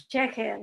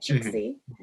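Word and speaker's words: ch'ixi: My hope was that now I know the correct pronunciation in Aymara, which is Cheche, not Chixi.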